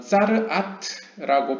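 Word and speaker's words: צרעת: 이 방에서는 히브리어로 짜르아트라고 발음하는 혹은 짜르아트라고 알려진 어떤 병에 시달리는 이스라엘 사람들이 자신의 재물들을 가지고 오는 장소로 사용되었습니다.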